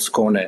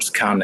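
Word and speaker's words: Skåne: of Sweden which is called scone or scan as you used to uh pronounce uh outside Sweden.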